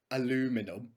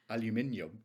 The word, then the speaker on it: aluminium: I okay sorry Little Miss what is it aluminum come on how do you say it aluminium no you don't you're joking no yes we